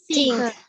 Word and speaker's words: think: Okay, not ting tapi kayak Think.